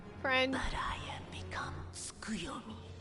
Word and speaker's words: Tsukuyomi: But I have become Tsukuyomi. I've been pronouncing it wrong this entire time. And divinity the T is silent.